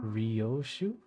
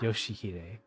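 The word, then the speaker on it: 良秀: Ryoshu? 아니, No. 그 글자는 That's 그렇게 not how you 읽는 게 read those 아니라 letters. 요시대라고 읽는 거다. Yoshihide.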